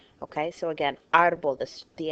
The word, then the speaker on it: árbol: Another common error I see all the time, árbol. Where do you hear the stress in árbol? Think about it. Okay? It's on the A.